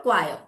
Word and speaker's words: choir: Choir of singers, group of singers is called choir. The pronunciation is choir.